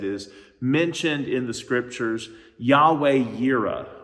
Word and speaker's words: Yahweh Yireh: And we get a name for God out of this that is mentioned in the scriptures, Yahweh Yireh, or in a maybe more familiar way to pronounce it, Jehovah Jireh.